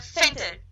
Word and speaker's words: Venter: We have Venter. Is that... It's close enough, yeah. How do you pronounce it? Fenton. What? Fenton. Oh, okay. Pronounce the V like an F.